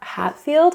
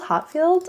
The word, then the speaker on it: Hatfield: the debut from Juliana Hatfield Hotfield. I always honestly forget her name and I'm sorry. Juliana Juliana Hat Hatfield Hatfield. I don't know why I want to say it like Hotfield or something.